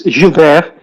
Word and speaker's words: Gilbert: Jill, I hope I pronounce it correctly. No, you don't. It's Gilbert. Gilbert, thank you.